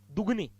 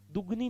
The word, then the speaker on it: दुगुनी: प्लावन बढ़ गया अपला दुगनी अब बोलते लोग दुगनी है महाराज तो लिखेंगे भी दुगनी दुगनी नहीं होता दुगुनी होता है बोले शुद्ध उच्चारण शुद्ध